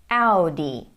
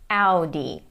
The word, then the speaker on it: Audi: Audi. Audi. This is how it is pronounced in German and this is how most of the world pronounces it.